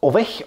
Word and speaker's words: Owech: Und deshalb gibt es jetzt das, ja, ich habe mir sagen lassen, es spricht sich aus Ovech, Ovech, Ovech.